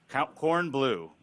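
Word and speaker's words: Kornbluh: cornblow okay and how do you say your last name appropriately the way you like but how did your mother how'd your mother say corn blue corn blue okay we called governor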